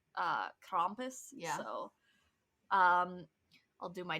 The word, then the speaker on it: Krampus: It's that guttural R rolling noise that a lot of people like struggle with. Right. Krampus.